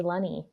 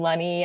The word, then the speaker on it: Lunney: Uh, because my name's Lenny. Lenny. Sorry. Lenny like money is what I say.